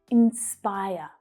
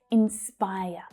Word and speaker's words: inspire: Let's start with pronunciation first. Inspire, inspire. So that middle syllable is the stressed one. Spy. Inspire. In my accent, you can't hear that final R sound, but you would in an American accent.